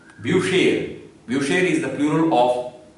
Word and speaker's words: Bücher: Bu, CH will give sh sound as per the rule, and A. Altogether, if you combine all the syllables together, it will come up like Bücher.